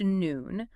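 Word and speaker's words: נון: The letter nonp pronounced noon.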